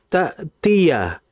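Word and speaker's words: تأتي: Di situ ada hamzah yang bertanda sukun, dibaca dengan jelas, jangan sampai menyerupai ain. Hatta ta'tiyahumul. Nah, ini sering terjadi. Bedakan antara hamzah dengan ain. Hamzah itu pengucapannya berada di bawah tenggorokan, sedangkan ain berada di tengah tenggorokan. Dari sisi makhraj saja sudah berbeda.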